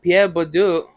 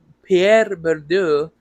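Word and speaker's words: Pierre Bourdieu: you know, Pierre Badu, Pierre Berdu, sorry, French name, you know, very hard to pronounce, but uh he uh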